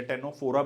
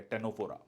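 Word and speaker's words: Ctenophora: Tapeworm, liver fluke, Fasciola, टेनोप्लाना या टेनोफोरा भी कहा जाता है। सी यहाँ पर साइलेंट है, आंसर है आपका दिस, ठीक है।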